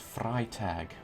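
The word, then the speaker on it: Freitag: It's pronounced fry tag. Friday in German.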